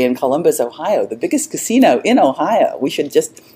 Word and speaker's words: casino: And you have to say that with the accent on the correct syllable, because if you say casino, it means brothel.